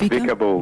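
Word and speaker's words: Vika Bull: Now, I hope I don't pronounce this wrong, but is it Vicar Bull or Vicar Bull? It's Vicar Bull.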